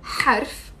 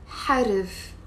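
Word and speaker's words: حرف: Like, if you say harf, it's a little bit more difficult than harif, harif, okay? Harif, harif. So you're adding a r, here, just because it's easier to pronounce.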